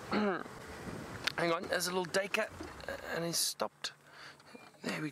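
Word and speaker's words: Duiker: Hang on, there's a little dacre and he's stopped.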